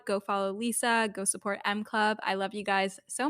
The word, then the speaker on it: EMME Club: And my new baby is called M Club, and it's spelled like EMME Club.